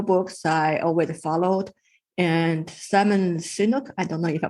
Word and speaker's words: Simon Sinek: And Simon Sinek, I don't know if I pronounce his name. Simon Sinek, yes.